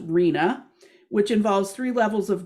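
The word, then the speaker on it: RHNA: is the regional housing needs assessment which is pronounced rena which involves three levels of government at the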